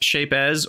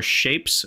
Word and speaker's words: Shapez: And I don't know if it's pronounced Shapez or Shapes, but it's got a Z on the end, and I like to pronounce the Z. So I'm calling it Shapez until someone has at least evidence that it's not supposed to be pronounced that way.